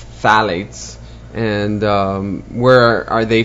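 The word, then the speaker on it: phthalates: the other one is phalates which is uh spelled with a p phalates and um where are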